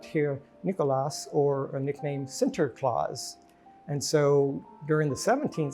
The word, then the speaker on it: Sinterklaas: the Dutch living together, the English pronounced it a little different, and it morphed from Sinterklaas to Santa Claus as we know today.